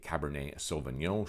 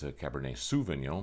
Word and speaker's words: Cabernet Sauvignon: about them on the cabernet sauvignon show as well where i proceeded to pronounce it cabernet souvenir but that's another story